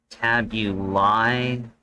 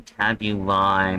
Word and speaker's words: Tabulae: I believe I pronounced that right in Latin, because I know in Latin the AE right there, I know that has a strong I sound, like Caesar should actually be pronounced Kaiser, I believe.